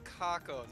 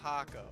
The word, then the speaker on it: Kako: yeah his name is kako not hako because his name is japanese translated and i looked it up because i had a hunch wait it's kako also known as past